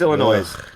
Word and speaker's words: Illinois: life like 37 years Illinois yeah there's an s on the end I don't give a there that is a silent s thank you very much